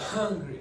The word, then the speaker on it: hungry: Now give some huh at the beginning. Hungry. That's it. That's perfect pronunciation.